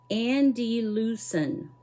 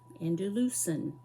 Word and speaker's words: Andalusian: One of my subscribers wrote me a note, and Bevy Moore told me that it is pronounced Andalusian. Andalusian.